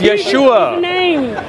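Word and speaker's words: Yeshua: not even aramaic word Jesus is not aramaic it's yesua you don't even know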